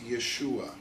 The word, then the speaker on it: Yeshua: His name originally in Hebrew was Yeshua.